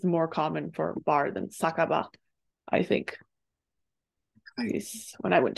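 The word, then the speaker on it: 酒場: Saka ba. Hi. So you probably have seen the saka kanji before pronounced as sake, which is wine or alcoholic drink or whatever, Japanese wine.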